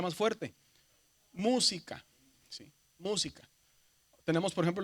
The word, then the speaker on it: música: Tenemos, por ejemplo, la palabra música. Si dividimos silábicamente o en sílabas, decimos música.